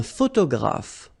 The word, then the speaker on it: photographe: Un photographe. So here, PH, and here, PH, pronounce it like F, f, f, f.